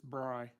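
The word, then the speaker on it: Brigh: Brie uh Brie uh it's not Bree it's Bry um I'd say for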